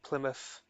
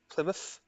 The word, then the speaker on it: Plymouth: Scots tends to pronounce the final TH sound for a F in Plymouth. Plymouth to my ear, but I'm not sure how official Plymouth, that is.